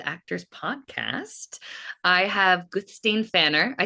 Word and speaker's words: Guðsteinn Fannar: I have Gustain Fanner. I said that right.